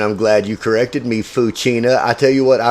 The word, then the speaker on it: Fouchina: hello there welcome to the show foua Kirkendall Hi how are you it's F and I'm glad you corrected me fuina I tell you what I remember meeting you